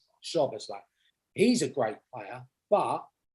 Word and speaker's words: Szoboszlai: Szoboszlai. Szoboszlai.